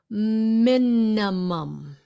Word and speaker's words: minimum: Minimum. Minimum. The minimum. Those are not e sounds. Minimum. Minimum. The first I is pronounced with a short i.